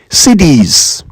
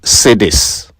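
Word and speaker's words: cedis: CDs. CDs. Not sadis. CDs.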